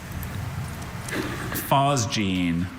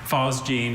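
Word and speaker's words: phosgene: Fosgene. Can I have all the information? Fosgene is the only pronunciation I have.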